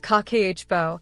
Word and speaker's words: Kakeibo: the power of kibo Japan's Timeless budgeting system kibo pronounced kbo is a simple but powerful tool has been